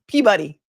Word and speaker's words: Peabody: I mean, nobody's written more about the Karen Reed case than Aiden Carney, and he deserves Peabody, but I don't think it's pronounced pee. Peabuddy, a Peabody award.